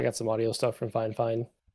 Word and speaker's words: Fifine: Um, I got some audio stuff from Fine Fine. F I F I N E. Looks like Fifine pronounced Fine. Fine.